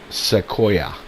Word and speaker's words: Sequoia: if you're watching this the tree in question is pronounced Sequoia and I did actually